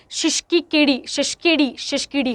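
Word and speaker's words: Tshisekedi: देखो कहता है फ्लिक्स तशिशकी, या फिर टी साइलेंट होगा, शिशकीडी है ना।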